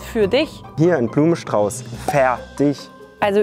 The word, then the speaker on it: fär: hier ein Blumenstrauß für dich hier ein Blumenstrauß fer dich also ü mögt ihr nicht so gern